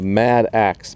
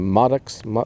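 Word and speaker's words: mattock: Oh, there's my, I call it a mad axe, but it's actually a Maddox. Anyway, I say it wrong, but there's an axe on one end and a digging.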